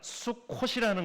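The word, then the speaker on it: סוכות: 초막을 뜻하는 히브리어는 수컷입니다 수컷이 아니라 수컷입니다 그래서 발음에 주의해 주셔야 되는게 괜히 잘못 들으시면 초막절은 수컷들만 지키는 절개구나 이렇게 오해하실 수 있기 때문에 수컷이 아니라 쑥 콧이라는 겁니다 그래서 발음에 꼭 주의해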